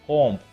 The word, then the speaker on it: comb: There is no B sound in that word. Although there is letter B at the end of the word, we do not pronounce this as comb.